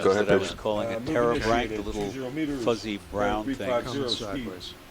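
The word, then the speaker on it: pterobranch: So another one or two of those things that I was calling a terebranch, the little fuzzy brown things. 0.1 knots. Terebranch is spelled P-T-E-R-O-B-R-A-N-C-H, which means wing gill.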